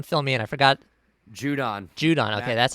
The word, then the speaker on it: Judon: Judon.